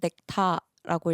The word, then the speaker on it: NECTA: 넥타는 넥타라는 단어에서 어를 뺀 넥타라고 읽으시면 되고, 그리고 뜻은 그리스 로마 신화에 나오는 신들이 마시면은 영생을 살게 해주는 감로주였나?